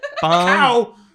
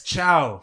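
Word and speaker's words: ciao: when I did it bjo cow it's Chow I never said cow Bingo Cow Bella such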